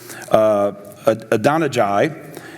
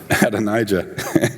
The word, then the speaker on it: Adonijah: son, whose name is Adonijah, and that's not right.